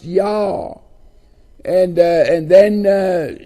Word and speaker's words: Yah: at uh 49 other places it it is pronounced yah and uh and then uh his uh function